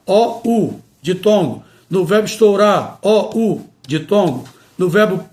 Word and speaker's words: estourar: Portanto, temos aqui exemplo de vários verbos que não devemos pronunciar com a vogal O aberta, e sim fechada. Afrouxar, estourar, pernoitar, roubar.